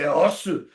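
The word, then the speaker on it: 押忍: lot of people say os. I go, "Oh, you're saying it wrong." What? What? Yeah, it's Japanese. It comes from two words, oshi and shinobu, and they made osu from it. So you say osu, and it means Awesome.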